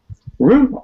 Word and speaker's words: roux: Roux, R-O-U-X. How do you pronounce it? Roux, R-O-O, right?